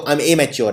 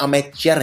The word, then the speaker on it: amateur: अब अमेच्योर में लोग इसको लिख देते हैं एमेच्योर, कि भाई ये तो एमेच्योर है। ये एमेच्योर नहीं है, ये अमेचर है।